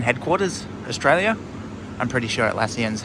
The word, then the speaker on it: Atlassian: I'm pretty sure Atlassian's how you pronounce the name.